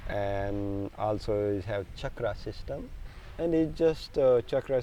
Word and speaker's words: chakra: for that about I'm glad you mentioned the chakras because and the pronunciation is Chuck much right Chuck dreadknot chakra